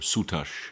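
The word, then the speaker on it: Sutekh: First, the god Seth, or Sutash in its original pronunciation, and the concept of change.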